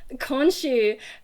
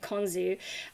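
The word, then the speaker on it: Khonshu: mean for one thing it took me a while to get that pronunciation right in my head because i'm used to reading it just in text and i don't know how anything's pronounced but my brain was pronouncing it konzu and then another thing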